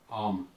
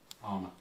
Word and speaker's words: almond: Oh, you're saying L, aren't you? Yeah. Yeah. Mm. There's an L in almond. I'm sorry. It's you pronounce it. Pronounced as an L.